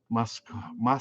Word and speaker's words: Muskoka: Oh, have you ever fished muskoka? How do you pronounce that?